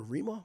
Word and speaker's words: Rema: Is it Rema or Rema? I might be saying it wrong though. Rema. All right. It's Rema.